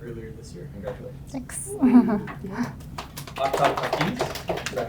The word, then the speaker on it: Aftab Hafeez: Aftab Hafeez, is that how you say it?